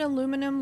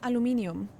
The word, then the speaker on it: aluminium: You said aluminum like an American, by the way. Good work. I don't know. It's like, in German it's aluminium, and then it's aluminum, and then it's aluminium.